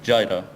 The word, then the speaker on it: Jira: which is a volcano people in the u.s. pronounce it jireh sometimes mm-hmm no it's